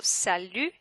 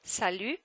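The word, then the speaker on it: Salut: when they say also Sal don't pronounce the T Sal like hi which is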